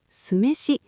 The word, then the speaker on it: 酢飯: Sumeshi. Là cơm nêm giấm đúng không ạ? Vâng. Viết là 'sumeshi' và đọc là 'sumeshi.'